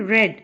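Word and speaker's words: read: इसके स्पेलिंग वही होंगे लेकिन इसको हम पढ़ेंगे रेड.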